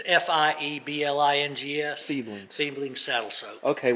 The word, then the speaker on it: Fiebing's: And this should be fine after Spell that product. Feebings. Feeblings. Feeblings. Feeblings. It's Fieblings.